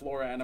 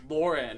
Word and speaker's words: Lauren: And it's Ralph Lauren, not Ralph Lauren. If I hear someone else say that, I'm going to shoot you. Seriously, Lauren. It's spelled and sounds the way it is.